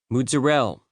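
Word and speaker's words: mozzarella: any other county in the country are pronounced Mudzerel, Galamad, and Pushcuto.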